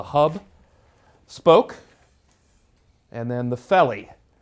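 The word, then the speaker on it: felloe: It is pronounced felly. Today people call them fellows, and in the United States sometimes people call them fellers.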